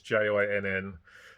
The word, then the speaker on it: Jinn: And the Howling of the Jinn, I'm not sure if that's the correct pronunciation, it's Jinn.